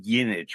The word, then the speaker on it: Jinich: Her last name is pronounced Yinich, but it's Jinich.